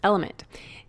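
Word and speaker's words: LMNT: sponsors LMN element it's spelled l MNT but pronounced element if you haven't heard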